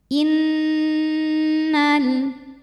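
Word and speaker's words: إنّ: gunah karena nunnya bertasdid cara membacanya didengungkan bunyi n tahan sampai ada suara masuk hidung kurang lebih dua harakat Innal Innal selanjutnya ada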